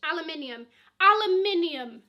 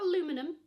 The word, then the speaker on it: aluminium: Amenity kit, aluminium for you Americans. Okay, it's not aluminum. Look how it's spelt, thank you.